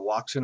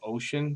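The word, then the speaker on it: Wouxun: A popular radio in the prepping community is the Waxen or Ocean, depending on how you pronounce it, dual band radio, which allows you to communicate on VHF and UHF frequencies.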